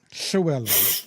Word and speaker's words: Llewellyn: So the the double L at the beginning L on their name would be a as opposed to a shellan. Is that it? Shellan.